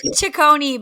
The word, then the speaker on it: Ciccone: happy to have our guest today is ciccone am i pronouncing your name great chicony but everybody says it differently so it's just